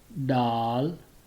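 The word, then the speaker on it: دال: Then the next one, it's called Daal, like English doll, Daal, Daal.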